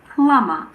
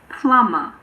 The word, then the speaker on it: plumber: Occasionally, the B is silent after an M in the middle of a word. For example, in climber and plumber. Climber, plumber.